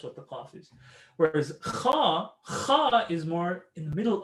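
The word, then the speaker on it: خاء: Kha is if you have, I explained it to them yesterday, it's like if you had, some phlegm, a loogie stuck in there and you're trying to get it out, you're sick and you go, right? That sound. That's what the kha sound is.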